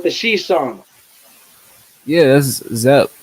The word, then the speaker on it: Zep: It's Zep. Oh, Zeppy, like ZEP. Oh, Okay. ZEP. Yeah. Oh no, I'm saying that song with the she song. Yeah, that's Zep.